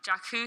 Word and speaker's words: Jakku: It's going to be featuring characters from episodes 7 and 8, followed by the Jakku. I don't know if I'm saying that right. Yeah, you said it right. Okay. Jakku sequence, a transmission from BB-8, and a new